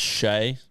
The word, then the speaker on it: Shai: It's definitely Shea Bolton, by the way. Oh, is it? Pronounced Shea.